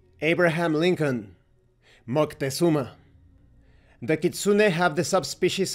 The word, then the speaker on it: Moctezuma: For example, it's not Montezuma, it's Moctezuma. For the same reason why we don't say Abraham Lincoln, it's Moctezuma. Correct pronunciation. Abraham Lincoln, Moctezuma.